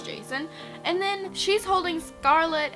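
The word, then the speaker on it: Jacin: read about winter and Jason I think that's how you pronounce his name j a c i n is that Jason I've been saying it is Jason and then she's holding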